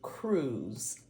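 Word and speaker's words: krewe: joined together and became Crews and I'm spelling the word crew with a k k r e w e and so these Crews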